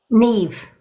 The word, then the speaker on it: Niamh: And how do you say Lady M? Niamh. Neve.